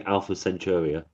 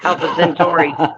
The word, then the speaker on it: Alpha Centauri: Okay, don't say Alpha Centauri. No, I would never, because that's not how you say it. It's Alpha Centauri.